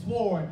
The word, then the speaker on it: sword: And if y'all from the ghetto is sword, you know the W is silent, but I won't hold that against you.